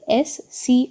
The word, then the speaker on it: ASCII: The code ASCII, that is it is ASCII. It is pronounced as ASCII, which stands for American Standard Code for Information Interchange, uses 7-bit to represent each character in computer memory.